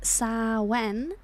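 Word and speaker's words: Samhain: Sam Hayne approximately pronounced Sen. Sawen is a Gaelic tradition.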